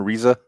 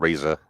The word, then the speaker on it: Reza: That is the pronunciation. Reza. Reza. Okay. Cuz I think Raza, so that was my fault. Yeah. And that's Reza.